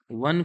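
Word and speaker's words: one: तो जब आप वन को पढ़ोगे, वन को आप जब रीड करोगे, वाह ऐसा प्रोनाउंसिएशन होगा। ये का से ज्ञा के बीच में वाह आता है, इसीलिए यहाँ पे क्या लग जाएगा?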